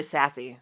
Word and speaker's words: Zazie: Zazie Beetz? Zazie Beetz. And she was like, yeah, bitch. It's actually Sassy is how it's pronounced.